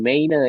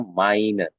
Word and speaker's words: meine: Nah, ini dibacanya jangan jadi meine ya, tapi dibacanya jadinya AI. Kita jadinya meine ya.